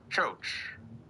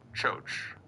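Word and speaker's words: Kyoki: It's spelled K-Y... spelled K-Y-O-K-I, but he pronounced it as Choach. So that's what I'm going to call him until somebody tells me otherwise. His new name is Choach, which I looked it up.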